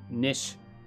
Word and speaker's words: niche: that if that's your nish niche is niche like quiche or how do